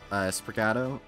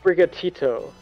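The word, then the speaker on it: Sprigatito: Sprigato? The grass boy Pokemon. Fuecoco, the fire croc Pokemon. There is not a thought Bright. Behind those eyes. What? Bright? What? It's pronounced Brigatito.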